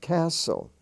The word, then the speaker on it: castle: t as in castle the t is silent castle but as i've said